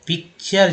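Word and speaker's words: picture: तो इसे इसलिए चर पढ़े क्योंकि टी को च पढ़ा जाता है, टी को च पढ़ा जाता है, टी को ट और टी को श भी पढ़ा जाता है।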